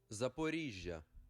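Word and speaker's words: Zaporizhzhia: Can I get pronunciation on that word, actually? Okay, let's get... Ukrainian. Hope this isn't super fucking loud. Zaporizhia.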